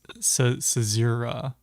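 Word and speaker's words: caesura: like it's c-a-e-s-u-r-a right how do you pronounce this Google says it's sazera it's a zero it's a zero okay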